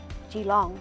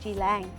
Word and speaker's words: Djilang: that recorded it and weren't able to actually pronounce the way our wadarang people pronounced it that over time it got changed to g long instead of jilang so we've returned the